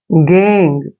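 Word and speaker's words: gang: पढ़ना है अब देखिए जी ए एन जी गैंग गैंग में भी क्या है जी के बाद ए आया है जब भी जी के बाद ए आता है तो जी को हमने ग पढ़ना है गैंग ठीक है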